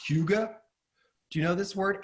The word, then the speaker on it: hygge: It's a hygge, and it's like that warm, cozy feeling.